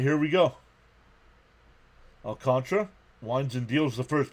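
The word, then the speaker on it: Alcantara: Alcantra, it's pronounced Alcantra, even though that's not how it's spelled. Darth One is here. What's up, Darth Star? Nothing new about our Mets. All right, here we go. Alcantra winds and deals the first pitch on the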